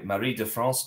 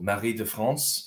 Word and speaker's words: Marie de France: It's originally by Marie de France, or Marie de France in modern French pronunciation.